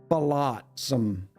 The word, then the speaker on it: flotsam: So it's flot versus float.